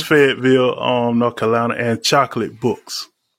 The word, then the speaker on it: Fayetteville: And quick question: was Karen pronouncing your school right? Is that Fayetteville or? It's Fayetteville.